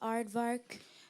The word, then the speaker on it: aardvark: South Africa can you make a sentence with aardvark The Aardvark uses his long snout to eat the ants am I pronouncing the word correctly Aardvark yes aardvark a